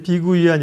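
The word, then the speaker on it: 碧桂园: 뭘 불러야 될지 모르겠는데 현지 발음으로 이제 비구이한 이렇게 불러주는게 맞는 거 같고 이것도 이제 롱창 이렇게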